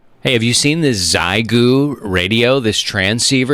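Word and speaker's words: Xiegu: the states at mfj it's called a zyu it's spelled x i e gu it's a portable five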